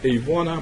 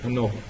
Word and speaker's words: ANOVA: Not Avona, but ANOVA.